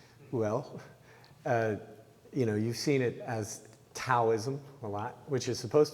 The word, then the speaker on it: Taoism: Well, you've seen it as Taoism a lot, which is supposed to be pronounced Taoism.